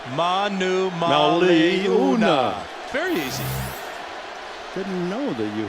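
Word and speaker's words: Manumaleuna: veteran out of Arizona who is not Brandon Monomoy Liotta every vowel is pronounced and a great run this ma Numa le u na Manu Mali una berry didn't know that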